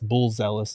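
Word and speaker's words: Buzelis: old um I think Fabio in the chat said it best Matas bull zealous now so you have to just pronounce it that way now he's also from Chicago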